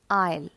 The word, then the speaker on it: isle: island and this word i'll i s l e here also the letter s is silent so its pronunciation is i'll the next two words